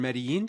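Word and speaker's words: Medellín: It's Medellin, nice. that's how the locals say it.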